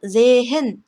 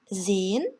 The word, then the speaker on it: sehen: 이 동사는 gehen이라고 발음하는 게 아니라 gehen 이렇게 발음되고요. sehen 이것도 마찬가지로 sehen 이렇게 소리내지 않고 sehen이라고 발음합니다. nehmen의 경우 네 부분을 길게 발음해 주셔야겠죠. 장음이니까. 그래서 정리하면 gehen, sehen, nehmen 이렇게 됩니다.